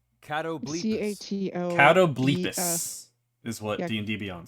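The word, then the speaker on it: catoblepas: for hitting things is that actually how you pronounce that word uh how's it spelled cattle Beach is what DB on says actually how it's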